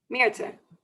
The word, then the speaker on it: Mirtha: Mirtha. Mirtha. There's the sneaky TH in there, which actually in Dutch doesn't do anything. So it always confuses all the English speakers.